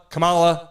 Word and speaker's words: Kamala: Why is Kamala Harris, Kamala, if you're just joining us, we got to say it like that because people get their butt hurt about it, and it's not me.